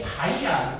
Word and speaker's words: X: 아니면 어떤 가수들 뭐 아이브 했는데 아이브 뭐 곱하기 몰리브형 막 어떤 제품 행사할 때는 그지? 이게 뭐 하는 건지 알아? 이게 뜻이 뭐야? 약간 콜라보레이션 비슷한 뜻이거든. 같이 함께한다. 그러니까 이게 바이야. 곱하기가 아니야. 바이라고 읽는 거.